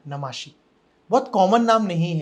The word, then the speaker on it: Namashi: ओ सो pronunciation है नमोशी but spelling है एन ए एम ए एस एच आई तो ज्यादातर लोग मुझे नमाशी ही बुलाते हैं बट ऐसा तो कुछ नहीं है नमोशी आई थिंक बहुत ही